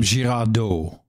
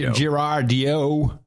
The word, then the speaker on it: Girardeau: In that, I would say Cape Girardeau. I don't think anyone would pronounce it that way in Missouri. It would be Girardeau or Girardio. I don't think it's that bad either.